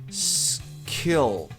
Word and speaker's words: skill: Então fica skill.